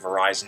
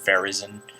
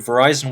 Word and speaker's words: Verizon: easy to pronounce um words some words like Verizon it pronounced as verison but you know that's typical anyway I have